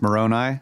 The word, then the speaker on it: Moroni: Do you remember how to pronounce this angel's name? I think it's Moroni. Moroni?